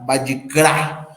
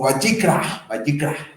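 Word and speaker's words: ויקרא: Donde aquí nos pasamos al libro de Levítico, y es interesante que significa Vayikra o Vayikra, ¿sí? Tiene acento en la A, son nombres en hebreo y estarán de acuerdo que apenas hablamos español cada uno de nosotros.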